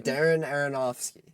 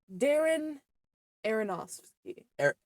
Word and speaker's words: Darren Aronofsky: It was directed by the great, shit, I was gonna ask you how to pronounce his name. Darren Aronofsky. Darren Aronofsky.